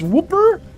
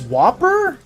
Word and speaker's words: Whooper: You're saying it like it's whooper or whopper? It's whooper. Woo. Like wooer. Thinking like it's whopper. I'm saying it like it's whopper.